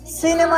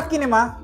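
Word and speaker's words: cinema: সি আই এন ই এম এ, সিনেমা না কিনেমা?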